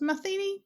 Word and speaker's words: Matheny: I'm now thinking I pronounced your name wrong after asking how it was. Matheny? That's right, Matheny. Is that right? Matheny, you've got it.